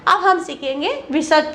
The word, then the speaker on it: विसर्ग: इस ध्वनि का उच्चारण हा के समान होता है, उसे विसर्ग कहा जाता है, ठीक है।